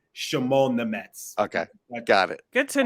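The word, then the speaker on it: Šimon Nemec: It's Shimon Nemec. Like Shimon.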